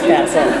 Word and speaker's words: Basil: David Copperfield, and Basil, which I will mispronounce at some point and say Basil, but it is Basil.